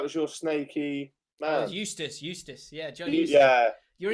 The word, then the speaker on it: Eustace: Somebody said that I'm in collaboration with Eustache. Is that how you say it? Eustache, what's that? Oh, I thought that was your snaky man. Oh, Eustace.